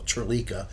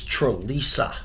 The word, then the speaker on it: Trisa: uh shaa shaa Trisa everybody always mispronounces the Trisa name they call tra it's Trisa Trisa good okay this something